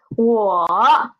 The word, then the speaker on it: 我: The pronunciation of me or I is 我. 我. It is a third tone word.